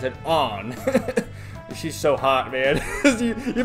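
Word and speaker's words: Ann: cuz it's spelled an but you know they pronounce it on she's so hot man you better believe I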